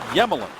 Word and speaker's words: Emelin: Ovechkin, and Alexei Yemelin, his name begins with an E. It's actually pronounced Yemelin.